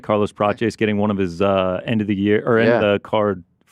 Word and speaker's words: Prates: Prates. Prates.